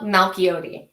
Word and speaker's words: Malchiodi: Yeah, it's Malchiote.